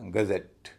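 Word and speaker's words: gazette: नियम के अनुसार स्ट्रेस अंतिम सिलेबल पर पड़ना चाहिए। तो ई डबल टी ई का उच्चारण होगा एट क्योंकि वह भारी है और उससे पहले जो है सिलेबल जी ए जो है वह हल्का हो जाएगा और उसका उच्चारण होगा अ पूरे शब्द को बोला जाएगा गजेट गजेट यह तो था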